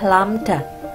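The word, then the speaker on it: lambda: ini huruf seperti ini Ini bacanya adalah lamda panjang gelombang disimbolkan dengan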